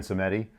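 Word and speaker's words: Samedi: Yeah, it's Baron Seemedi but everybody you know they call him Baron Saturday and he's sort of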